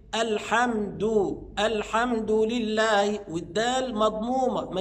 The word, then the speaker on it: الحمد: الالف واللام الحمد لله بعض الناس ينطق خطا الحمد يجيبها تاء ينطق الدال تاء وهذا خطا امال الصواب ايه الحمد الحمد لله والدال مضمومه